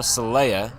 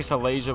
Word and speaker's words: Salea: So correction of the former pronunciation, Salea. Salea? Yeah, I'll just. Yeah. Salea. Salea. Salea. So I was saying Salasia before, Salea.